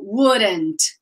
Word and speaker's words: wouldn't: It's funny because it's like there's an R in the pronunciation, so wouldn't.